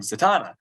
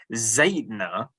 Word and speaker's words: Zatanna: it was but they had mentioned the word Zatanna uh however you say I say Zatanna I like the Donna too but it had pronounced it zetna which is the strangest pronunciation I've heard of